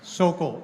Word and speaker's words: Sokol: Sokol, S-O-K-O-L.